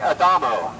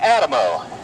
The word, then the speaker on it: Adamo: a man that uh I'm going to pronounce his name correctly just so you'll hear it his name was Frank Adamo however uh everybody in Tampa knows him as Frank Adamo because a seven mile